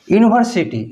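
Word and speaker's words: university: ठीक है, देखिए यूनिवर्सिटी, यूनिवर्सिटी में देखिए ये तो यू भावेल है,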